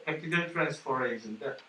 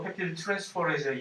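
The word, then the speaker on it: peptidyl transferase: 그래서 이것은 이 전담 효소가, 펩티드 결합을 수행하는 전담 효소의 이름이 뭐라고 읽을까 이거? 펩티드 트랜스포레이즈라고 하죠. 펩티드 트랜스포레이즈인데, 왜 쓸데없이 여태까지 글리코시드 링크랑 에스터 결합을 얘기할 때 전담 효소에 관해서 우리가 언급한 적 없잖아요.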